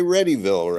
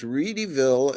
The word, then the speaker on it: Readyville: um rville ah and don't say readyville right even though it's spelled readyville it was rville and it was a